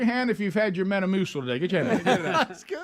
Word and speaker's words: Metamucil: Metamucil.